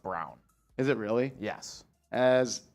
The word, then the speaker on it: Braun: work but it would it's spelled like Christian b-r-a-u-n they say it's brown though from 90 sure it's